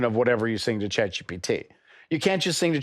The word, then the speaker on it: ChatGPT: And he's like, yeah, ChatGeep. Everybody uses ChatGeep. I'm like, ChatGPT?